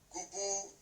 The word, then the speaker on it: gubu: And the last one, which is the U, combination with the G, pronounce gu, e.g. Gubu means very swollen or puffy.